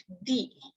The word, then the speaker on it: the: But when we have a word which is starting from a vowel, this should be pronounced as the.